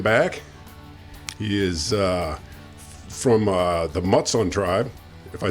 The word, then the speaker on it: Mutsun: He is from the Mutsun Tribe, if I said that right.